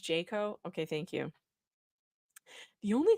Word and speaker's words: JCAHO: that he said oh it's pronounced jako okay thank you the